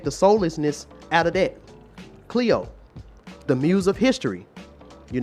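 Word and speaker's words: Clio: then we got cleo who all remember mrs cleo but this is spelled c-l-i-o cleo is the muse of history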